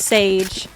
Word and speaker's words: Seyg: like my name so it's pronounced sage but i spell it weird because i know that